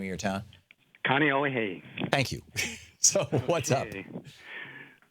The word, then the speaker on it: Kaneohe: Kaneohe.